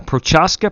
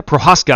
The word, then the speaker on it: Prochaska: but he's p4 uh prochaska prohaska i'm sorry i've been mispronouncing that young man's name for a long time